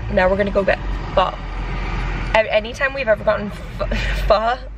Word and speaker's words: pho: Anytime we've ever gotten pho, I've said pho, I called it pho, and I get called out every time on my videos because I've said we're gonna get pho, but it's called pronounced pho.